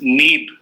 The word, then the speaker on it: Neeb Karoli: his original name, is Neeb. Okay. Neeb Karoli, not Neem Karoli. Okay. Right? Yeah. So Neeb Karoli.